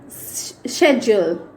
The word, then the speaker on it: schedule: And the most common word which we always make a mistake is schedule. We can also pronounce it as schedule. Schedule is according to British English and schedule is according to American English.